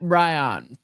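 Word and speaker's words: Bryon: It's B R Y O N. So I pronounce that Ryion.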